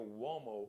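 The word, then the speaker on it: Umo: a r i o wo is a u it's got the w w sound it's an Italian surname uh but it's spelled u m o u like umbrella Oprah Mar and Oprah u m o also check out the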